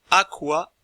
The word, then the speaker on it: aqua: La suite de lettres QU se prononce logiquement, puisque le U se prononce OU. Elle se prononce donc QUE, aqua, l'eau.